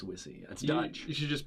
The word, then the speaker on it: Wisse: sit Seton kazi's yeah it sounds like was he so actually mispronounced it it's actually it's wizzy that's done you should